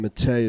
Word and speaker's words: Matej: h underscore entrepreneur and matteo spell m-a-t-e-j the j silent let's pronounce yeah yeah